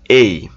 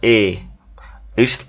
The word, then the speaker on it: A: বি সি এভাবে না, এ এর সঠিক উচ্চারণ হচ্ছে এই, হ্যাঁ, নট এ, ইটস লাইক এই, ওকে এই।